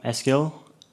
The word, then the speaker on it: Eskil: So, I'm uh I'm Eskil. Uh it's a Norwegian name. Um you can pronounce my name by speaking out SQL.